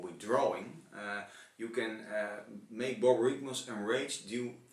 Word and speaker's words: Borborygmos: Then we have the original guy who's not enraged, and I still don't know how to pronounce it, so you're going to have to say it for me again. Borborygmos.